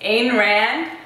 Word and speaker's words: Ayn Rand: Ayn Rand.